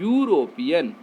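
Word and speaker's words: European: यूरोपियन, ये आपका क्या है, वावेल लेटर है, लेकिन इसके साउंड को देखो आप, यू आ रहा है, यूरोपियन, इसके पहले ए का प्रयोग होगा।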